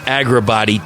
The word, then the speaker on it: Agrabatti: And the project that I'm talking about is Agrabatti. Did I pronounce that correct?